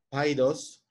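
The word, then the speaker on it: paidós: Etimológicamente se define con la raíz griega paidos, lleva acento en la i, paidos, que significa niño.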